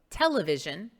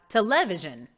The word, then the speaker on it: television: the emphasis on it's the reason we say television television and not television television to levision no